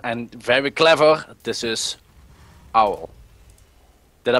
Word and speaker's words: Owl: he's really fearsome and very clever this is Owl did I pronounce that correct yes very good and he